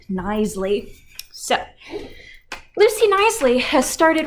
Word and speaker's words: Knisley: And I know her name looks like it's super hard to pronounce, but it is pronounced Knisley.